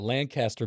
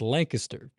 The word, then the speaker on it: Lancaster: is here with, you've got Lancaster, Pennsylvania, but here it's Lancaster.